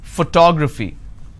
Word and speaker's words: photography: the first syllable but when i look at this particular word i pronounce this as photography how do i pronounce photography and how many syllables do i have here four toe fee four syllables but in this case i stress on the second syllable that is what word